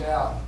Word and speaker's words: Al: pleased to meet you my name's al rhymes with val is next to the